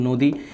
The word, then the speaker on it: নদী: যে আমি এখানে লিখলাম নদী তো নদী শব্দের উচ্চারণটা হচ্ছে কিরকম নদি এভাবে নদি তার পরবর্তীতে হচ্ছে কবিতা তো